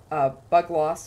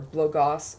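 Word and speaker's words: Bugloss: It's just Columbine, Bug Loss, or Blogos, depending on how you like to pronounce it, Nemera's Rot.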